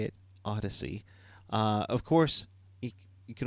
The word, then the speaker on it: Odyssey: in iHeartRadio Odyssey that's how you say it Odyssey uh of course you can always smash those